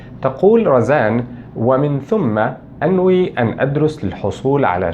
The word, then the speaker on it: ثَمَّ: وفي الحقيقة هنا النطق الصحيح أو الأدق لأداة الربط هذه هي ومن ثم وليس ومن ثم، وهذا خطأ يقوم به بعض متحدثو اللغة العربية عندما يتحدثون بالعربية الفصحى.